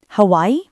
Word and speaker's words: Hawaii: Two syllables. The gia turns into j. Hawaii.